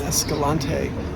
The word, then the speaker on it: Escalante: Today's daily recap comes from Nemo's drive-thru in Escalante, although I heard a lot of people pronounce it Escalante, like rhymes with anti-Escalante.